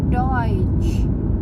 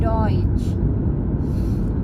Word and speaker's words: Deutsch: Nah, berikutnya adalah huruf E ketemu U. Nah, itu dibacanya bukannya eu, tapi dibacanya oi. Contohnya Deutsch, artinya bahasa Jerman, Deutsch.